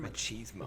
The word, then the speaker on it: machismo: I mean, instead of it being just exhausting, what's that, like machismo? How do you pronounce that word? Machismo.